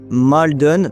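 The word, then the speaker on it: Martyn: L'homme qu'il a identifié s'appelait Mardy Maldon. Donc ça s'écrit Martin mais je le prononce à l'américaine.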